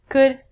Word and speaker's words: could: All of these L's are silent. So it sounds like should, could, and the thing that we get from trees, would.